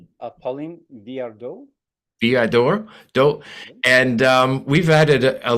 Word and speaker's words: Viardot: Derek, you might be better at pronouncing the name. Verandeau? Pauline Viardot.